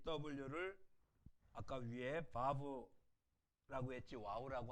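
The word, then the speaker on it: וָו: W가 아니라 V로 바꿔야 돼요. 그렇죠? 바브, 바브. V로 바꾸셔야 됩니다.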